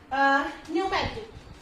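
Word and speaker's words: pneumatic: तो इसमें क्या है, पी क्या है, साइलेंट रहेगा, okay. And next word is न्यूमेटिक, न्यूमेटिक क्या होता है, फेफड़ों में हवा भरना, ओके।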